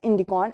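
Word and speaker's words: ἰνδικόν: in the news recently the ancient greeks called the plant dye indigo by a name which is pronounced as indicon and means indian the die was highly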